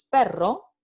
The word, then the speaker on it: perro: Entonces, aquí tenemos el par mínimo pero versus perro, ¿no? Pero, perro. Y entonces tenemos el par